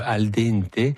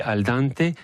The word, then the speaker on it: al dente: Et en fait, toutes les lettres se prononcent. Donc en fait. Pour dire le al dente, c'est un E, et il y a une différence entre le an et le n.